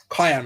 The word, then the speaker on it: Cayenne: Cayenne. You said it right. Like the pepper.